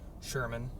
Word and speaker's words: Sherman: Yes, that's how it's pronounced. It's Sherman, like the tank.